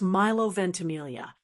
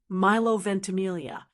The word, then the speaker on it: Milo Ventimiglia: Kind of a soft lea sound. So al together it's milovententamelia. Let's practice together. Miloentamelia.